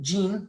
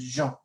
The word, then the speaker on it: Jean: jean is a boy now it look kind of looks like the gene like in english that's how it's pronounced but in french it's jean now what do we let's